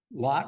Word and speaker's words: Lot: in Genesis chapter 14 uh lot requires that he got I guess we're really supposed to call him load aren't we but lots yeah just Hebrew pronunciation right it's a long